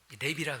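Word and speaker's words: לב: 히브리 사람들은요, 마음을 랩이라 그러는데 길게 발음해야 랩.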